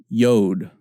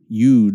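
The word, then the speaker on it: יוד: Yod. Yud is how some pronunciation schemes work, but yod is how I say it. It's how I learned it. Makes a Y sound, yod.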